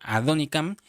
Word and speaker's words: Adonicam: Es una palabra hebrea, se pronuncia Adonicam, y usted lo puede ir a buscar en la concordancia Strong.